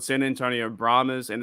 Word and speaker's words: Brahmas: I don't even know how to pronounce that name. The Brahms. Brahmas.